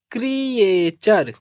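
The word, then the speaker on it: creature: और टी यू आर ई। इसको पढ़ेंगे चर। तो इसका प्रोनाउंसिएशन हो जाएगा क्रिएचर।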